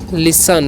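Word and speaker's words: listen: तो हो गया गो एल आ एस टी ए लोग पढ़ते हैं लिसन लिस्ट नहीं पढ़ता है ठीक है और एस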